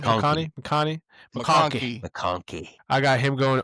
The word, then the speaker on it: McConkey: McConkey.